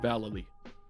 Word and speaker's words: Vallely: With Mike Vallely. And yes, that's how you pronounce it.